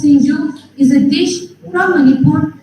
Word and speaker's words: Singju: favorite MEK meat curry Shinu Shu or pronounced as singju is a dish from